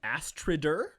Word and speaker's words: Astrider: It's spelled Astrider, but it's pronounced Astrid.